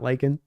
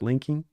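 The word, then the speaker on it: Laken: a little bit more his name is pronounced linking Tomlinson not Len but linking I don't want to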